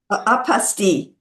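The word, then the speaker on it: apostille: What kind of other things you you told me about the uh apostto? Am I saying that right? Apostile. Apostile. Thank you. It's in French and most people pronounce it apastil, but talk about what that is.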